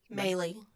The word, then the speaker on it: Maley: Maley, like Okay. Bailey, but with an M.